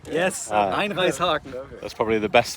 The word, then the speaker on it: Einreißhaken: Called Einreißhaken. Einreishaken. Yes, Ah. Einreishaken. Okay. That's probably the best thing I've pronounced.